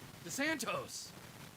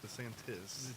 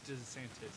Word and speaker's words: DeSantis: Yeah, DeSantos. it's DeSantis. DeSantis, excuse me.